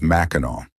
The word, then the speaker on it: Mackinac: The name is spelled Mackinac, yet it is pronounced as Mackinac. This unusual pronunciation comes from a mix of Native American languages and French influence, making the island's name